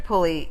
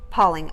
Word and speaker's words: Pauling: a second sure mr pulley you even before you pled guilty excuse me your honor it's not mr pulley sorry it's pauline pauling i apologize i apologize your name is pronounced pauling yes i apologize sir